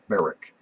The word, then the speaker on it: Berwick: the to Beric Brown spelled Berwick pronounced baric to to baric Brown